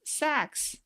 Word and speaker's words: Sachs: okay somebody thank you Sachs yeah it makes sense sax Goldman Sachs that's right oh my goodness